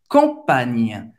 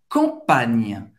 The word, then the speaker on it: campagne: é um pouco mais forte, ele usa mais a língua do que o NH em português. Existe um bloqueio na língua para esse som sair mais forte. La campagne. La campagne.